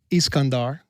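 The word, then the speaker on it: Iskandar: So Kandahar actually comes from Iscandar, you know, which is how you pronounce Alexander in their language.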